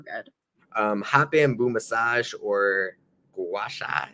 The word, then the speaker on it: gua sha: hot bamboo massage or gua sha. Is that how it's pronounced? Gua sha.